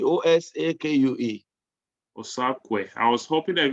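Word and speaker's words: Osakue: you're muted yeah my last name is uh osaku o-s-a-k-u-e osaku i was hoping that he was osaka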